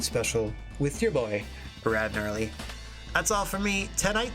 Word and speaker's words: Gnarly: about your old pal, the Silent G Rad Gnarly, saying so long for now.